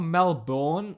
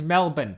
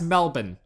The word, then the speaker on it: Melbourne: Before I move on, it's not Melbourne or Melbourne, however you fucking Americans pronounce it. It's Melbourne, okay? It's not, we don't pronounce it the way it's spelled, but it's pronounced Melbourne, okay?